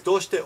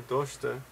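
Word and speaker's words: どうして: Naze or doshite. And this is how we say why. Doshite. And actually I would put a little U in there just to get the pronunciation right.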